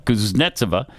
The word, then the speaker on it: Kuznetsova: The most significant development came from Anna Kuznetsova. Oh, I love her. I said it right the first time. Kuznetsova.